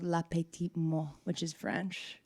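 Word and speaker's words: mort: I'm not I'm saying mo weird, but mo like it's spelled m o r t.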